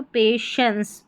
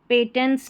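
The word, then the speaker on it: patience: Requires ये है पे अब यहां पर टी आई ई एन सी को टेंस नहीं पढ़ेंगे शेंस यहां पर जो टी आई है ना इसको श पढ़ा जा रहा है तो पेशेंस पेशेंस टी आई एन सी को टी आई ई एन सी ई को शंस करके पढ़ेंगे पेशेंस पेटेंट्स नहीं पढ़ना है।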